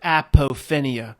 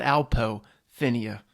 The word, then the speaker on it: apophenia: you're latching onto your i'm going to say it right this time your apophenia latching onto your apophinia just called alpo phinea better than afophenia you latching onto your